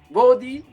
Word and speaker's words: Bodhi: Se llama Body Música y se escribe BODHI.música.